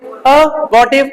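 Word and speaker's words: abortive: सर are silent रहती है, अबॉर्टिव, बोलो, अबॉर्टिव।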